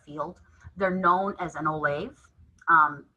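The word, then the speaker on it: ollamh: Uh, and so when someone has reached the highest level within their field, they're known as an oolave. Um, it kind of sounds like the word olive, but it's spelled with an a, olavves.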